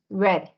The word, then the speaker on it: read: yeah and so in in the past participle it's spelled like that but you say it differently you say it um red have he read the